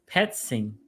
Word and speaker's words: Petzing: Okay, Gagan says, don't sleep on Stefanski's protege, Drew Petzing. Right? Is that how you pronounce his last name? You got it right. That's Petzing. perfect.